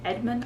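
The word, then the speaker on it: Edgmon: Edmond. I believe that's how you would say the last name. I don't think you would say the G.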